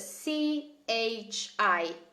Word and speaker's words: chi: and how in Italian who is ki KI spelled with c-h-i chi chi akka e CH i ki and then what we